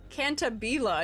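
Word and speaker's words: Cantabile: Cantabila. It's Italian. Oh, okay. I was not thinking we were doing Italian pronunciation on that one.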